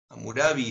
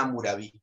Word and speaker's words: Hammurabi: 2 que habla del código de amor study amurabi se escribe con h a m m un área